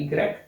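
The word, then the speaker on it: igrek: है अपने आप में शब्द का उच्चारण होता है इ ग्रेक शब्दों के अंदर इस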